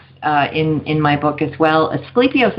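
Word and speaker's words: Asclepius: Asclepios is how I pronounce it, but he was the original physician, right?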